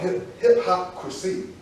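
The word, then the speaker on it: hip-hopcrasy: And so when I looked up and I found out there's actually a word called hip-hopcracy. Like hypocrisy, but hip-hopcracy.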